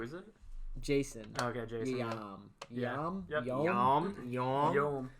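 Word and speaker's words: Yeom: Yom. Yeah. Yom? Yep. Yom. Yom. Y-E-O-M. Yo, I butchered someone's name Yo.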